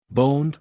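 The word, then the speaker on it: Boand: Boned, pronounced like owned, sister to Befind, queen of the fairies.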